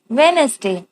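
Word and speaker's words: Wednesday: Students, students ने बोला today is वेडनेसडे, today is वेडनेसडे, वेडनेसडे। हम वेडनेसडे जब बोलते हैं ना तो हम डी को साइलेंट कर देते हैं।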